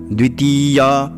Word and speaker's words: द्वितीय: ब्रह्म मनोनी द्वितीय देखिए यहां द्वि में ह्रस्व है अति में दीर्घ है तो उसका उच्चारण भी वैसे ही करना है द्वितीय प्रहरा दे श्री श्वेत